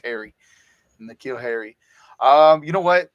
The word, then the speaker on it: Harry: But go ahead, Harris, guys. It's N'Keal Harry. I say Harris. I don't know why I keep saying Harris. It's Harry. N'Keal Harry.